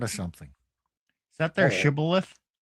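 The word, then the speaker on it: shibboleth: Some couldn't say the shh sound. They could only say the s sound. So some said cibilith, some said shibilith.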